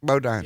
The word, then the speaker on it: Bodine: Greg Bodine.